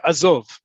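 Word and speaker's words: עזוב: Um same with the other ones, by the way, azov. Azov, right? The emphasis on the last syllable.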